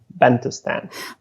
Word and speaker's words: Bantustan: And if you want a great book to read about, an amazing travel adventure, can you pronounce the name of the book for me? Bantustan.